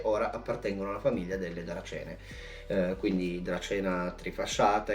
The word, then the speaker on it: Dracaene: ma adesso sono diventate Dracene. Piccolo punto anche su questo, da quello che so si pronunciano Dracene, non Dracaene, mentre si scrive Dracaene.